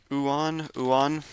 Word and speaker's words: Uwan: Here, I'm just going to make sure I'm pronouncing that right real quick. Uwan.